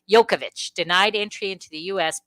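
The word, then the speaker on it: Djokovic: try Novak did yokovic yokovic that's what it is yeah you don't say the yeah D you ignore that and then the J is like a y all right yokovic denied entry into the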